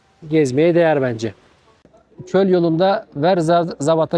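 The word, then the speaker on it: Ouarzazate: Çöl yolunda Verzabat'a geldik. Verzat. Verzat yani zerzavatın bir türü. Yani yazılışı ayrı, okunuşu ayrı.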